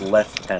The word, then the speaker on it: lieutenant: In England, it's pronounced lieutenant.